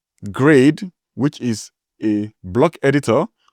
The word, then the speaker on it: GREYD: Then I've seen lots of cases where people are pronouncing grade which is a block editor which is spelled G R E Y D.